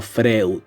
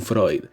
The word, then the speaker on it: Freud: No Freud, por favor aprendan a pronunciarlo, no es posible que estén a punto de graduarse de licenciados en psicología y sigan diciendo Freud, coño, Sigmund Freud.